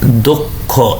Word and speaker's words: দক্ষ: যেমন দেখেন দক্ষ, তাহলে এখানে কিন্তু ক্ষীয় আছে, তাহলে প্রথম বর্ণের পর যদি ক্ষীয় থাকে তাহলে আপনি উচ্চারণ করেন দ, দ, দর নিচে একটা অ আছে, এটা কি হয়ে যাবে ওকার হয়ে যাবে, ওকার, ওকার, এই জন্য এটা হয়ে যাবে দক্ষ।